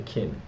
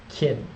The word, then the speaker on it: Qin: built upon the name China itself is derived from the word kin perhaps just pronounced chin pardon me my pronunciation